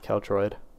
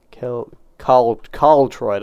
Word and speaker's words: Carltroid: Alright, I better not stray too far from spawn, because it's just about time that I catch up with Keltroid. Carltroid, I'm saying his name wrong.